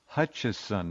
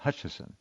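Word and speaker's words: Hutchison: It's Hutcherson, not Hutchinson. H U T C Hutch I S O N, not I N S O N. Hutcherson.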